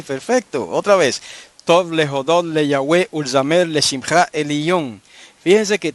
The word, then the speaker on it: le Yahweh: Ahora vamos a coger la palabra Le Yahweh. Si usted le quita el prefijo le, ¿cuántas sílabas le quedan? 2 sílabas. 2 sílabas. Y es que tiene que tener 3 sílabas en este caso para que haya un ritmo perfecto.